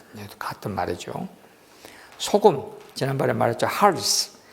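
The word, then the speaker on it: ἅλς: 할스. 이게 헬라말로 할스라고 읽습니다. 여러분들이 헬라말은 그냥 그대로 읽으세요. 내가 한글로 할 테니까. 할스.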